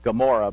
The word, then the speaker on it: Gomorrah: So he settles into the valley of Sodom and Amorah. When we say Amorah, there was a confusion about the ayin. Some say it was once pronounced with a G sound, so we come up with Gomorrah.